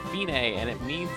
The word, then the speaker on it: fine: to like hundred two measures it looks like fine but it's pronounced Tignes and it means it's the end the finish